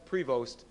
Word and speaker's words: Prevost: It's spelled Prevost and it's pronounced Prevost.